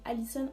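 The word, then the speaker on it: Alyson: Alors c'est A-L-Y-S-O-N, c'est Alicenne en anglais.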